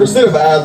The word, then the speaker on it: recidivize: I use the word recidivize because it rhymes with maximize.